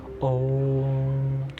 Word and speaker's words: ओम: फिर उसके बाद ओम का उच्चारण करना है और ध्यान रखना है कि इस ओम के उच्चारण के बीच में गैप ना आए कि ओ इस तरीके से नहीं ओम ओम ओम सिंपल सा इतने स्वर